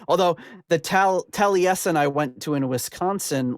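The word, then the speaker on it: Taliesin: in to say this is um it's being mispronounced it should be tesen um but uh Rod pronounces a talison so I pronounced it talison although the tal tesen I went to in Wisconsin last summer was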